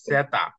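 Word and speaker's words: zeta: আপনার কি হবে সেতা এটার নাম হচ্ছে কি সেতা হ্যাঁ সেতা উচ্চারণ হবে ছ এর মত ছ এর মত ওকে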